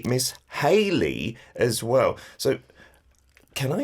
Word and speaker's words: Hayley: Yeah, it's the same, Hayley. As in Hangul, I think of Hedy as in, for some reason, spelt with an R in English. But no, you could spell it with an L.